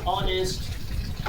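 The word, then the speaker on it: honest: For example क्या है, ऑनेस्ट, our, honour. यहाँ हम देखते हैं कि ऑनेस्ट में एच से शुरू है, लेकिन एच के बाद वॉवेल का प्रयोग हो रहा है, अतः एच यहाँ साइलेंट है।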